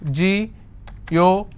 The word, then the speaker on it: geographical: Geographical. How many syllables do I have? Geographical. Now this fickle is coming up to 2 syllables, right? But this will still be combined as word ending, and this is the stress.